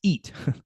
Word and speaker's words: EYT: It's pronounced eat like you got to eat.